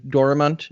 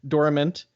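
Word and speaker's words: Dorimant: named doramunt dormament i i say it wrong yes you do i have a a very bad french accent which is um part of my character but uh for everyone else it is dormant i've had to train myself not to say it correctly well everyone else had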